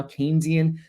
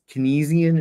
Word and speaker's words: Keynesian: Keynesian, that's how you say it. Um, you probably pronounce it as Kynesian or something when you look at it.